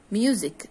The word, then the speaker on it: music: and bear in mind how can you pronounce these words museum exercise music there is s in each word of them but this s not isn't pronounced as it is s but as if it is z like this okay museum exercise music okay what about a word